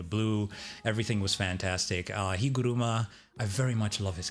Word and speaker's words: Higuruma: I was specifically saying Higuruma, not Higurama, last week cuz it's I feel like it comes out better. But like I I do get it. Higu ru Higuruma, like that's more of a Japanese pronunciation.